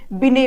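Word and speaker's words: Binet: तो mental as के बारे में जो बात करते हैं वो एल्फ्रेड बिने बात करते हैं। ठीक है, इंग्लिश में टी होता है लेकिन ये साइलेंट होता है।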